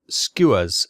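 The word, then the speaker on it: Skua: Um, so there was short sunderlands, vicers, Wellington's, uh, Blackburn skewers, skewers. I actually looked at up up how to pronounce that and I just had to remember. Skewers like the bird Blackburn skewers. Um, and Bristol Benhams.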